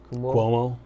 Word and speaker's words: Cuomo: people like governor help me say his name kuhmo Cuomo yeah of New York and mayor de Blasio